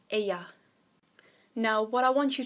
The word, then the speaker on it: ella: Now the con ella, the L's are pronounced as a Y, so it's not ella, it's ella.